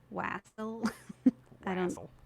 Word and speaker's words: wassail: It's an Old English word, and the pronunciation is most similar to West Hale. But I mean, nowadays we call it wassail, wassail, wassel.